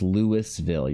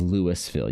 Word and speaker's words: Louisville: Louisville, that's Lewisville. You're not pronouncing the the S in it. Okay, it's it's Lewisville.